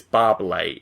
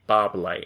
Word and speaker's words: Barbalay: Firstly, the pronunciation of my name is Barbalay. Easy to say, Barbalay.